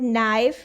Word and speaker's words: knife: silent in the word knife we write it with k n but k is silent the word gnome we